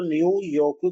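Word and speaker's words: ニューヨーク: New York को न्यू योकू कहा जाता है।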